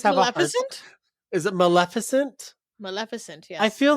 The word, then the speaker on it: Maleficent: Also, I can't pronounce this word. I always have Maleficent? Is it Maleficent? Maleficent, yes.